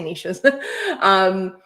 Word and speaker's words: niches: When I know niching, the riches are in, I guess it rhymes with niches, but I say niches.